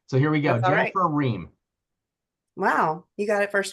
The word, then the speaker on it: Riem: Jennifer Ree.